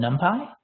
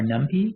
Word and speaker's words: NumPy: We'll use a library called NumPy or NumPy, depending on how you want to pronounce it.